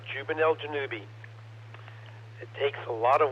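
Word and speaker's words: Zubenelgenubi: pages and websites telling you how you should pronounce jubel janubi that's right juvel janubi it takes a lot of websites it's originally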